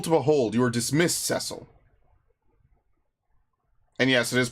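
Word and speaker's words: Cecil: sire is beautiful to behold you are dismissed cile and yes it is pronounced cile that's how they say it in the DS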